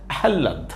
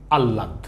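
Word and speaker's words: আহ্লাদ: একটু ঠেলাঠেলি আছে কিরকম কারো মতে এই শব্দটি হচ্ছে আহাল্লাদ আবার কারো মতে শব্দটি আল্লাদ উচ্চারণ তো আহাল্লাদ উচ্চারণ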